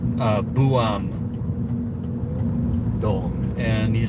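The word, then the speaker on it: Buam-dong: But but this is like a village in the city kind of nestled on a mountain and it's called uh Buam Dong. And you spell that uh B U A M and then a little hyphen and then the D O N G for neighborhood.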